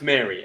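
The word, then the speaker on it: Mhairi: So I think it's pronounced Mary, okay, but M-H-A-I-R-I.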